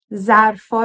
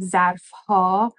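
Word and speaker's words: ظرف‌ها: Ha is the plural marker, but you might know that we don't typically pronounce the H sound, the H. So instead of ظرفها, we say ظرفا.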